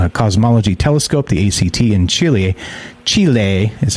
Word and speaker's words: Chile: Captured with the Atacama Cosmology Telescope, the ACT, in Chile is how you say it, between 2013 and